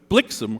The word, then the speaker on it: Blixem: weak ending word but blixem rhymes with Vixen Blitzen does not Blitzen does not rhyme with Vixen no oh I believe